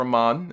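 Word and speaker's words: Amann: Punk did get a big win in the court case with the WWE doctor, Dr. Aman, or Dr. Amen. I say Amen because I think that's the correct pronunciation, but who gives a shit?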